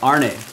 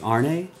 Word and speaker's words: Arne: Is it Arn or Arne? It's A-R-N with the upside down E. Upside down E is like again. It might be Arne?